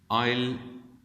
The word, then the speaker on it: isle: आयल इसका एस साइलेंट होता है, इसलिए आयल पढ़ेंगे।